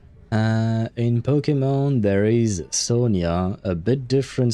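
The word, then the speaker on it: Sonja: So basically, but it's pronounced Sonia.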